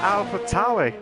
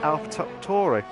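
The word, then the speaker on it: AlphaTauri: Let's see if he could try to do that Alpha Tauri. Now, you probably couldn't pronounce it. I called it Alpha Tauri. Like, but it's not, it's Alpha Tauri, like the only way is Essex type Tauri.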